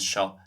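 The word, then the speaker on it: seo: So keep it in mind if you hear son and so in Munster Irish, that's just shin and sho.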